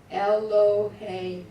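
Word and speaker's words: Elohim: Silva Siva your God elohe Sam Accent on the end l o h m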